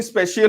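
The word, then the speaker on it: spatial: इसका pronunciation स्पेशियल होता है, इसको हिंदी में बोलते हैं स्थानिक।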